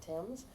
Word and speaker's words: Thames: He had a hard goods store on Thames Street, and that's the way we pronounce it because our grandparents pronounced it Thames.